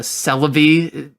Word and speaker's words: Celebi: It's called Celebi. That one in particular, because of Joe Cerebi is, like, I'm always getting dogged on for saying it like celery, but that's just life, unfortunately.